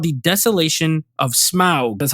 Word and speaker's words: Smaug: Now this one is called the Desolation of Smaug.